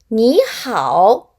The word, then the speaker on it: 你好: Biết ạ, chữ này đọc là “nǐ” Chữ Hán này Đúng rồi, đọc là hǎo Nǐ hǎo, nǐ hǎo Lạc Lạc nói: “nǐ hǎo” An